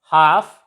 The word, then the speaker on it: half: And L is silent before F. Half, calf, and many more words.